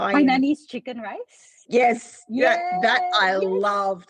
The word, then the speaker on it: Hainanese: Is it Hainan Hainanese Hainanese chicken rice?